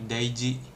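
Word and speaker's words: 大事: Ji-nya itu termasuk kanji soalnya, termasuk cara baca kanji ji yang ini nih. Nah ini dia bisa dibaca ji soalnya kan, yoji, daiji gitu.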